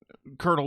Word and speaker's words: colonel: then to be fair colonel was supposed to rhyme with Turtle so it doesn't have